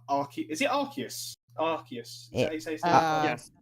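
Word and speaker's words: Arceus: Legends and it's it's like AR is it archus arus yes arus there there are several pron imagine pronouncing it correctly I'm ass um but uh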